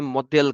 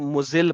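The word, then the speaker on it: المذل: कुछ लोग इसको मुजिल पढ़ते हैं, मगर पढ़ना प्रोनाउंसिएशन में 19-20 कुछ भी किया जा सकता है, कोई इतना मसला नहीं है।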